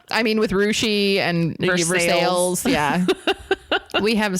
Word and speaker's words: Russia: get on the way wait a minute it's rushi Ohio pronounced or spelled like Russia spelled like Russia